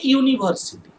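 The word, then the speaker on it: university: যেমন ধরো এ ইউনিভার্সিটি, এ ইউনিভার্সিটি, দেখো ইউটা অ্যাকচুয়ালি ভাওয়েল, কিন্তু ইউ কে উচ্চারণ করো ইউ ইউ ওয়াই, ওয়াই এর মতো উচ্চারণ আসছে না, সেই জন্য ইউ কে বলা হয় সেমি ভাওয়েল।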